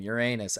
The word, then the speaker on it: Uranus: As you can see, Neptune is nearly double the distance that Uranus is from Saturn. Despite that, you didn't say it right. Come on. Call it by its right rightful name, Uranus.